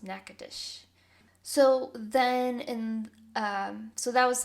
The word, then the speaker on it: Natchitoches: So 1715 is when the French officially had settled in what is called Natchitoches. It's the craziest spelling for how it actually is said. It's spelled Natchoches, and it is pronounced Natchitoches.